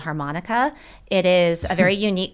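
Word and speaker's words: HArmonyCa: it be called uh harmonica harmonica like harmonica and you sell it you say it like you do the instrument but it's spelled differently and you the way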